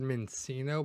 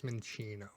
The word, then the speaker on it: Minccino: I've also heard Mincino, but I think it's Minccino.